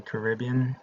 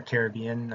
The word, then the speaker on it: Caribbean: major North American policies, Canada, uh, Mexico, Latin America, and Haiti in the Caribbean or Caribbean. I've heard it pronounced both ways.